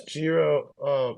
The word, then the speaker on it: GERO: I say Gero wallet, but it's any way that you want to pronounce it. So it's named after Gerolamo Cardano, and That's what I thought.